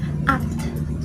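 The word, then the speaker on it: आठ: Kalau misalkan dalam bahasa Hindinya kita kenal sebagai at. Jadi A-A-T-H bacanya at, kayak ada gitu terakhir at gitu.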